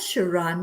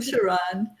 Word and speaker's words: Charon: today absolutely my pleasure and Sharon Ria of no judgment just love and the whole family counseling well whole family coaching I'm sorry I said it wrong welcome Charon thank you happy